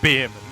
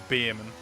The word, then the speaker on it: Bearman: on Earth is olle Beerman he went is that not how you pronounce it I went no it's literally spelled bear man where did you get